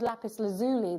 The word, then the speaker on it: lapis lazuli: is featured on Minecraft it's called lapis lazuli there and that is the American way of pronouncing it and indeed that's